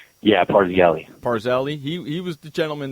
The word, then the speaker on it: Parzelli: James Parzelli, is that how you pronounce his name? Yeah, Parzelli.